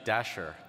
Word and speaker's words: Dashjr: so our next speaker I've heard his name pronounced - - here but it's actually Dasher so please welcome